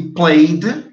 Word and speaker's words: played: E played também ficaria como se fosse só o som do D.